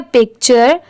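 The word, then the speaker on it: picture: क्या प्रोनाउंस करेंगे पिक्चर अब जैसे देखिए पी आई सी इतना पिक होता है और टी यू आर ई चर इसे हम टूरे नहीं पढ़ेंगे यहां पर टी की साउंड ट की नहीं आ रही है।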